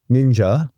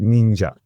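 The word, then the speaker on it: 忍者: So shi now is pronounced nin and mono is now pronounced ja. And that is how you get ninja, which once again was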